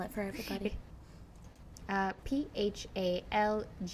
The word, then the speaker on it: Phalguna: You can spell it for everybody. Phalguna.